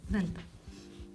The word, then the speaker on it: Δ: Λοιπόν, Δ. Ε, not like D. It's not like door. It's a soft sound sticking your tong out a bit.